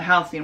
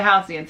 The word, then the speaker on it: Halcyon: housing which i had no idea how to pronounce until they were talking about it but the halcyon so it sounds like you're going to board the halcyon and then you're going